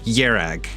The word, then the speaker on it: Kjerag: woman that was narrating pronounced it yag like the K was silent so we're going for